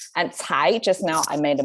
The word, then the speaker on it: 才: h so without h that means uh a flat tone without without uh the curling of the tongue thai instead of chai it's thai chai thai okay i hope you can